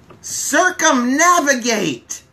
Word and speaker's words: circumnavigate: It is circumnavigate. Circumnavigate. Let's start with the spelling. It's a pretty long word. CIRCUMNAVIGATE. Circumnavigate. 1, 2, 3, 4, 5. 5 syllables.